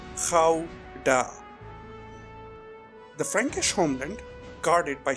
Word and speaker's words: Gouda: Yes, that is how you pronounce it. Gouda. Gouda.